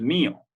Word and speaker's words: mío: decir esto es mío, y en ese caso lleva tilde en la primera sílaba. Mío. De hecho, esa es la razón por la que esto se parte en dos sílabas, ¿no? Porque el acento cae justo en la I.